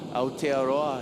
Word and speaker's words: Aotearoa: Safi Vete, 22 years old, hailing from Aotearoa. Beautiful Maori name right there. Could you pronounce it again? Aotearoa, it's the land of the long cloud, also known as New Zealand for you English speakers.